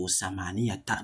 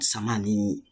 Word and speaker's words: ثمانية: So samaniyata, not samani.